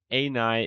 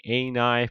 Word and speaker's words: ani: I have to say ani is the English pronunciation for this word. However, in Germany or Austria or Switzerland, we say it differently. So I have to switch to the ani pronunciation.